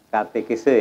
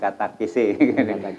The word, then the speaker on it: katekese: Katekese ya Pak, bukan katakese.